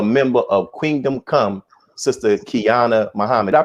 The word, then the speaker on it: Qiana: and also a member of kingdom come sister kiana muhammad i pronounce that right yes sir got it right